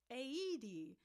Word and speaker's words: Aoede: If you say the letters A, E, and D, AOEDE is how it's pronounced.